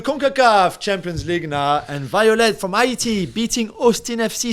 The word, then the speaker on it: Violette: Is it pronounced Violette? I'm assuming they speak French in Haiti. Yeah. I mean, I said you should say Violette, really, but I thought I'd put a little English spin on it.